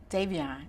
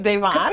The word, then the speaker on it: Davon: Kyle, Darrell, Aisha, Davion. Did I say his name right? Davon. Davon, see? Yeah.